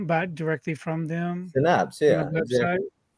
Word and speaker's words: Synapse: Synapse.